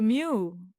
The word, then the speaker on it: mu: So mu mu is how you pronounce it.